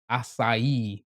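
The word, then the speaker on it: açaí: How do you pronounce that? Acai.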